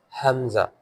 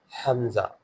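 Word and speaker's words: ء: Next is hamza. Hamza. It is all to read as Ha. And it is also a throttal letter and its voice comes from deepest part of the throat near chest.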